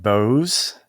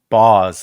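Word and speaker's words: Boughs: So, Shadowed Bows? Bows? Or Shattered... I think it's like Bows, like deck the halls with balls of holly, right?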